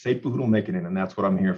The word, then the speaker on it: Satepauhoodle-Mikkanen: And then I will have a losing record on my pronunciations. Not a problem. It's Sepuhudal Mikanen, and that's what I'm here for, teamwork.